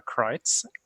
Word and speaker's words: Kreutz: I'm playing a Fire Genasi sorcerer, Eva Kreutz, or Kreutz, if you want to use the proper Kreutz. German pronunciation.